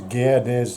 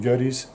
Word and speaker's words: Gerdes: The pronunciation probably is better as a Gerdes is the proper pronunciation of the name, but as I'm Australian and not German, it's pretty much been rounded down to a shorter form, Gerdes.